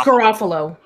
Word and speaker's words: Garofalo: I mean probably I think I got her name wrong is it Garofalo or giraffe Allah its Garofalo girl okay my bad then I what place